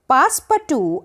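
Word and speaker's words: Passepartout: अब इसको आप टाउट नहीं बोलेंगे, इसको हम TU ही प्रोनाउंस करेंगे क्योंकि ये फ्रेंच नेम है। पासपाटू, अ फ्रेंच पैसेंजर, वेंट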